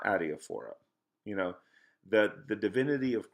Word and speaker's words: adiaphora: So he has this phrase, adiaphora. Okay, so I'm going to spell that for you since I don't have a whiteboard. So it's A-D-I-A, adia, A-D-I-A, phora, P-H-O-R-A, A-D-A-I-P-H-O-R-A, adiaphora.